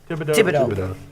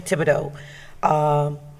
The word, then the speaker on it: Thibodeau: I think, is that the right way to pronounce it, Chris? Thibodeau. Yeah, Thibodeau.